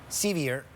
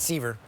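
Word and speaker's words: Sceviour: I mispronounced Colton Sevier. I said Seaver, the pride of Red Deer.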